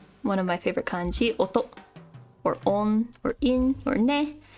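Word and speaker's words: 音: no blips allowed one of my favorite kanji Oto or on or in or this is sound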